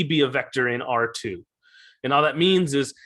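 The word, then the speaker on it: ℝ²: would say something like r2 that's usually how they pronounce it so r uh r yeah r two is how you would pronounce this and just like that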